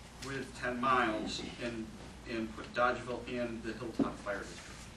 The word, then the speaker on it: Dolgeville: Dolgeville, in Herkimer It's County. It's pronounced By Dodgeville. It's not Dolgeville. It's pronounced Dodgeville.